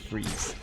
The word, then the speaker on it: Fries: Oh, I thought it was spelled Fries. Victor Fries. No, it's pronounced Freeze.